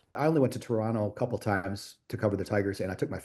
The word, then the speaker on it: Toronto: Apparently, you don't say the second T. Apparently, it's Toronto.